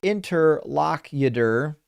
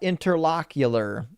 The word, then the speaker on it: interlocutor: Interlocutor is pronounced interlocutor, not interlocular.